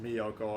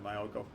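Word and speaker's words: Myōkō: Someone told me in my last video it's pronounced Miyoko. I actually had a friend when I was young, like a child, named Miyoko. So I actually do know how to pronounce it, but I like to say Mayoko.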